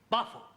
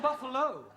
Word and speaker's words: buffalo: a big bull oh Buffalo teril confused yeah words that U endino like Buffalo or radio or vertigo you pronounce the O but when there is no o you don't add one understand yes I give up